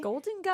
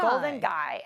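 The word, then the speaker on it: Golden Gai: Golden Guy. Golden Guy. And Guy is spelled G-A-I.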